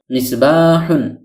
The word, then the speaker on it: مِصْبَاحٌ: বলা হয় সেহেতু মিসবাহুন শব্দটির মূল রূপ হল মিসবাহুন মিম যোগ কাসরতুন সমান সমান মি কেননা বাংলায় কাসরাতুন সাধারণত রস ইকারের উচ্চারণ দিয়ে থাকে সদ যোগ সুকুনুন সমান সমান